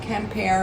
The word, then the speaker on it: Quimper: Yeah, it's called Campair. And it's spelled Quimper. So I probably called it Quimper in the past.